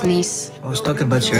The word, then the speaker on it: Nice: It's pronounced niece.